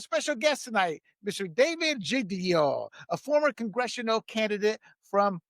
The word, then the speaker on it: Giglio: David, did I pronounce it? Is it Giglio or Giglio? Giglio.